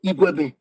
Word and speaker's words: Igueben: We now pronounce in short, we'll say Igueben.